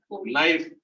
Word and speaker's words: knife: Knife, हाँ? कनाइफ होना चाहिए, but knife.